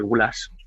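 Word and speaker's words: gulyás: También se habla del de la famosísima sopa Guyash, ¿no? Que en España se suele pronunciar gulas, ¿sí?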